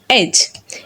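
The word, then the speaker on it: edge: যখন আমরা দেখব ডি লেটারের পরে জি লেটার থাকবে তখন ডি সাইলেন্ট থাকবে। যেমন জাজ, ব্যাজ, হেজ, ওয়েজ অ্যান্ড এজ। এই লেটারগুলো যদি আমরা লক্ষ্য করি দেখব ডি এবং জি একই সাথে থাকার কারণে এবং ডি এর পরে জি থাকার কারণে এখানে ডি সাইলেন্ট হয়ে গেছে।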